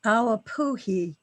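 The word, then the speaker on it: ʻawapuhi: Awapui is the correct pronunciation. Yes. It's a he on the end. It's Hawaiian. In Hawaiian, each letter is pronounced.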